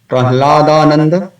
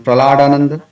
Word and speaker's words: Prahladananda: Prahladananda becomes Praladananda or Praladanandan. I have to make some effort to mispronounce it.